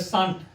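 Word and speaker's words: shan't: जैसा लिखा रहेगा वैसा पढ़ेंगे। इसमें एस एच ए एन है तो सा कहेंगे यहां टी है एन और टी के बीच में जो ओ हो होना चाहिए वो साइलेंट है छुपा हुआ संक्षेप में ऐसे लिखा जाता है तो हो जाएगा सांट इसको बोलेंगे शंट तो क्या कहता है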